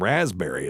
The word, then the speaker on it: raspberry: uh like pterodactyl and raspberry is a good one too. So, it's just a silent P and it's because the Greek had it and we don't we don't pronounce P's like that.